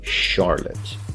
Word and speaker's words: Charlotte: of this word but we don't pronounce it with that sound we actually pronounce it with a with an SH sound so it should be Charlotte next we have clothes